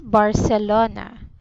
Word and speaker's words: Barcelona: And this should be pronounced as it is. Bar, se, lo, na. Yes, Barcelona. Very good.